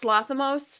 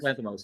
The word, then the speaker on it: Lanthimos: I can't pronounce the guy's name, the guy that did Lorgos Lathamos, Oh, Yorgos Dogtooth. Lanthimos, who did Yes, Begonia.